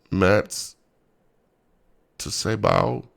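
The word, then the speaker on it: מַצֵּבָה: Pronounced something like mats to say bow. Mats to say bow. Something like that.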